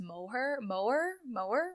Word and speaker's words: Moher: We went to the cliffs of, I think it's pronounced Moher, okay. Something like that.